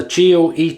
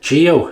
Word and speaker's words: Geo.: be what's he say george or something i pronounce it as he has it on here geo he wants to be known as geo f trumper so geo it is thank you geoff jumper